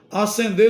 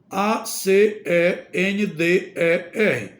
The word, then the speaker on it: acender: s o bom senso outro exemplo acender no sentido de atear e acender no sentido de subir pronúncia é igual Mas a escrita é diferente acender no sentido de atear